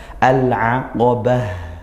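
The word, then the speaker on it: العقبة: Nah, kemudian di ayat yang masih di ayat yang 11 tadi ya, al-aqabah, kemudian di akhir tak marbutah kita waqafkan maka bunyi huruf ha, al-aqabah, bah seperti itu ya, ha sukun.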